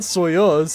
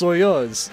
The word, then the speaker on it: Soyuz: either it's not soyuz it's soyuz dude they sound the same to me bud i